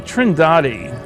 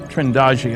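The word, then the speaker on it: Trindade: the picture and here's a sequence from trinidadi trindaji i'm told it's pronounced 600 miles east of the coast of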